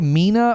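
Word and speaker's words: MENA: oh hang on Mina stands for Middle East and North Africa they Pro people probably say me right yeah the abbreviation me is pronounced as a word not as the letters according to Google AI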